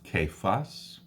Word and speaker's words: Cephas: So these 6 appearances, Cephas, it's pronounced Cephas, the 12, 500 brethren, James, the apostles, and me.